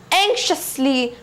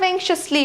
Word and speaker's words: anxiously: Now what is the meaning of anxiously? No, I would say what is the pronunciation of anxiously? It's not anxiously, it's anxiously.